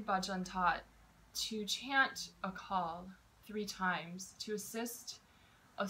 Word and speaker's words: Akaal: times we the UH the first syllable is short and then call is very long so we take a